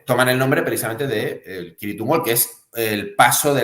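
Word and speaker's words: Cirith Ungol: doom épico, Kirit Ungol, aunque ellos, que son estadounidenses, pronuncian Sirit Ungol. Creo que la pronunciación correcta es con K, Kirit Ungol.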